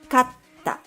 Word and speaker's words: かった: Kata. Kata. The first word has two beats in it, right?The second word, on the other hand, has 3 beats.